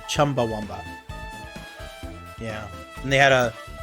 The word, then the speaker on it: Chumbawamba: up during the trial a dingo wamba it's it's actually pronounced Chumbawamba yeah and they had